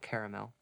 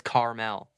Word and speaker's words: Carmel: New York that's right it's Carmel not caramel oh